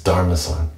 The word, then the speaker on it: Daruma-san: how does that sound it's not actually Pastor rumors on this dharmasan is how you say in Japanese I looked it up this time it's darmason there's no they don't pronounce the EU okay if there's any